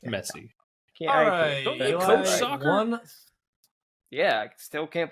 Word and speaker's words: Messi: you it's Lionel Messi there's no Z's there it's an S the these are easy